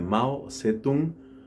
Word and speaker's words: Mao Zedong: nación estamos hablando de mao tse tung o como probablemente se pronuncia un poco mejor mouse de döng mao zhedong es aquel que transformó